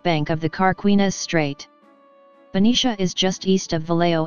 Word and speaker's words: Benicia: Benicia, California. Benicia, /Bni/Bnish, BNISH, Spanish pronunciation, is a waterside city in Solano County,